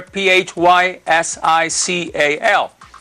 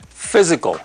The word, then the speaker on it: physical: with a Y there p h y s i c a l physical and it is pronounced with a z sound physical right so how